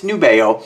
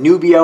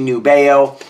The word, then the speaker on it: Nubeo: say it they're like no it's it's nubeo because I was calling it nubio a lot of the guys are calling nubio it's actually nubeo this is cadola uh